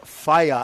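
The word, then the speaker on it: whai: riger te yeah so that wh EA that you see up there under New Zealand that's pronounced fire fire means atie and these anties are on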